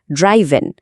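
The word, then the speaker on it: driven: লাইনটা হলো দি অচিভমেন্ট ওয়াজ ড্রিভেন largely by political leadership and cricketing diplomacy. অর্থাৎ এই অর্জনটা মূলত পলিটিক্যাল লিডারশিপ এবং ক্রিকেট ডিপ্লোমেসির মাধ্যমেই সম্ভব হয়েছিল। এখানে ড্রিভেন শব্দটা একটু নোটিস করুন। উচ্চারণ ড্রাইভেন।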